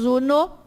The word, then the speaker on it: uno: O U tem que ser pronunciado U. E o O tem que ser pronunciado O. Porque senão a gente vai confundir na hora de ler. Então, se é uno, é uno, não é uno, é uno.